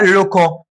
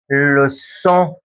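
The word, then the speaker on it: leçon: ولكن تعالى كلمه ثانيه كده، عندك كلمه ده نطقها كده لوكو. لوكو. طبعا عشان اخلي حرف السي ينطق اس بروح حاطط له سي دي، اصبحت لوسون. اسمها ايه تاني؟ لوسون.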